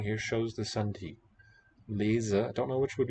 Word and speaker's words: lezen: Lezen, if it's between vowels, it's voiced z, spelled with z. And here next to the voiceless T, also in a coda, it's voiceless.